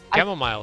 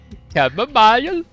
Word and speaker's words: chamomile: So the camel has a meal instead of going a mile.